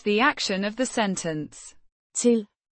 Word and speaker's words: til: Teel. Means to, pronounced Teel. similar to the English word till, but with a shorter, less drawn out I sound.